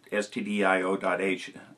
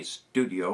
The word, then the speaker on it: stdio.h: That's stdio.h. Just spell it out. It stands for standard I.O. Don't say studio or somebody's going to think you're making movies.